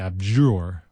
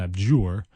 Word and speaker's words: abjure: It's a weird word to say, abjure. You can also say abjure. You know where you throw that little like Y sound, abjure.